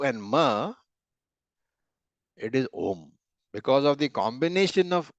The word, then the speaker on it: Om: a lot of people who pronounce it as Aum. All that is wrong from the point of view of Shastra. Or from Sanskrit grammar also, the word is Om.